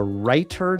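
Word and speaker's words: Reiter: Take a look at my video entitled The Writer Document. That writer is spelled R E I T E R.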